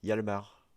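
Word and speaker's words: Hjalmar: mal le prononcer, mais Jalmar Hatch. Je sais pas si tu l'aurais dit comme ça, toi. Moi, j'aurais prononcé le J comme un I. Yalmar. Yalmar, peut-être que c'est mieux, effectivement. Yalmar Hatch, j'ai aucune info sur sa vie personnelle.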